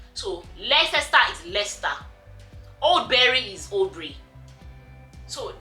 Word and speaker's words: Leicester: as written it would probably be a different pronunciation so let's start is lester all berry is obri so you know everything